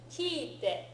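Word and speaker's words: 聞いて: Okay, these three verbs all exist. Kite, to come. Kitte, to cut. It's not just a stamp, it's also to cut. Kiru is the original verb. Kiru, kitte. Okay, and then kiite, to listen, right, or to ask. Kiite kudasai. Right? So let's practice our pronunciation of those three so that we're differentiating them. Okay?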